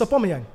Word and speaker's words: Aubameyang: Yeah, It's Aubameyang. It's just the way he says it sounds terrible.